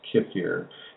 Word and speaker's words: kefir: And if you go against the transformation of the intestinal tract, yes, Sukha, I mean, how do you pronounce kefir?